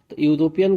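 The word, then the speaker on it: European: वह एक यूरोपियन है यूरोपियन का प्रोनाउंस एशन जब होता है तो हम लोग हिंदी के य से लिखते हैं यू से इसलिए यहां ई देखकर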